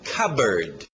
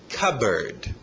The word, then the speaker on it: cupboard: Alright, continuando, a pronúncia é fácil nesse aqui, o som de K, e lembra pássaro, era bird, então cupboard, cupboard.